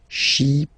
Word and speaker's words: Chypriote: She, remember this Y is pronounced like I, okay? Chypriote.